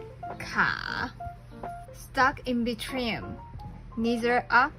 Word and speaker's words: 卡: And when you put 上 and 下 together, it's 卡, stuck in between, neither up nor down. It also evolved to mean car. And it sounds very like 卡, and car.